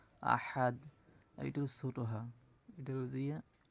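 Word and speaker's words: أحد: কুল হু আল্লাহু আহাদ আহাদ হা এটা গলার ভিতর থেকে উচ্চারণ হবে আহাদ এটা ছোট হাজি হা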